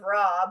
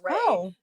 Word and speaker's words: Ra: um the eye of raw but apparently it's pronounced r i of ray. Like it's r a. It's ray not raw.